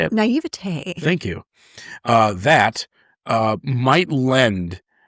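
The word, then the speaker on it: naïveté: naivete, and I just butchered the hell out of that word, but my I can't say it. Naivete.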